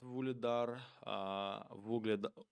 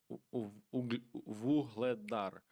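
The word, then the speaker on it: Вугледар: Season, not Vuledar, Vuhledar. It's pronouncing right Vuhledar.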